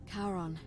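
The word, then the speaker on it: Charon: h a r the ferryman of the Dead karon who in exchange for the right coin helps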